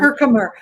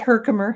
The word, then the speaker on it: Herkimer: Herkimer. We call it Herkimer here. But is that what you call it, Teresa, down south? Yeah, Herkimer? Probably I might say it wrong. I say everything wrong. No, but it comes from Herkimer, New York.